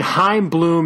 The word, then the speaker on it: Chaim Bloom: book sorry time it's I mean hime bloom if you're not going to try and do that the guttural sound at the beginning but it's like time yeah bloom so he worked for